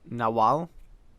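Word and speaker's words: nahual: Werewolves in Mexico are known as the Nahal, pronounced or No, no, no. Uh, it's pronounced Nal.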